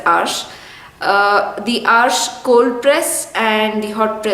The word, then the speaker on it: Arches: that's available in India they call it arches but it's actually pronounced as ash the arsh cold press